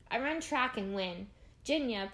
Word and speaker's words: Jinya: Jinya, pronounced like Virginia but without the ver, comes in a close second.